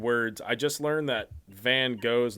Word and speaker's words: Van Gogh: I just learned that Van Gogh's name is pronounced Van Gogh. Really? Yeah, that I've heard that, but I don't like it. apparently Americans are the only people that say it as Van Gogh.